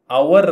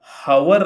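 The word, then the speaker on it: hour: ಉಂಟು ನೋಡಿ ಗಂಟೆ ಅಂತ ಗಂಟೆಗೆ ಅವರ್ ಅಂತ ಹೇಳ್ತೇವೆ ಅವರ್ ಅವರ್ ಹವರ್ ಅಲ್ಲ ಹ ಇಲ್ಲ ಅಲ್ಲಿ ಹ ಇಲ್ಲ ಈ ಎಚ್ ಅಕ್ಷರವನ್ನು ಉಚ್ಚಾರ ಮಾಡುವುದಿಲ್ಲ ಬರೀತೇವೆ ಆದರೆ ಉಚ್ಚಾರ ಮಾಡುವುದಿಲ್ಲ ಸರಿನಾ ಒಂದು ಗಂಟೆ ಅಂತ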